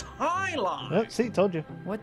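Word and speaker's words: jai alai: What the heck is Jai-Ali? It's Hi-Li? It's pronounced Hi-Li!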